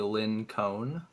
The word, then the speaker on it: LinkOne: Everybody says his name wrong. If you look at it, it's actually supposed to be Lin Cone.